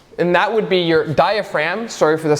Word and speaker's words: diaphragm: And that would be your diaphragm. Sorry for the spelling. It's a pretty awful spelling, but it is what it is. Yes, there's a silent G in there, because why not?